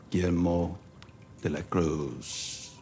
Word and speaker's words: Guillermo de la Cruz: Guillermo de la Cruz.